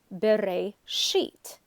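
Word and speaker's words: בראשית: In this example from Genesis, the word bereishit has a tipcha symbol below the shin. That tells the reader the stress is bereishit.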